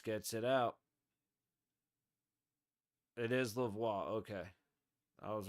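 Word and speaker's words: Lauzon: Vegas Zone Vegas gets it out it is laois okay I was right originally before I started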